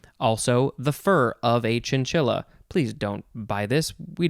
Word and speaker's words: chinchilla: last word is chinchilla c-h-i-n-c-h-i-l-l-a i guess you could possibly say chinchia because it has the double l uh and it is spanish but it doesn't say